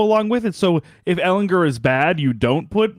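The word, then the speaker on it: Ehlinger: So if Ellinger is bad, you don't put Ryan back in. If Ellinger gets hurt, you don't put him back. It's with a hard G, right?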